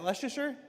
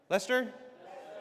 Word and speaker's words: Leicester: Uh, straight out of Klesher back to the Hex photos from Leicester. How do you say? Is that Leasher? Lester.